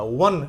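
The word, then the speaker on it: one: हो तो एन लगेगा लेकिन यहां ओ का उच्चारण हो रहा है अ की तरह वन इसको व पढ़ना है वन ओ का जो प्रोनाउन प्रोनाउंसिएशन है वो ओ की तरह नहीं है बल्कि व की तरह हो रहा है इसलिए यहां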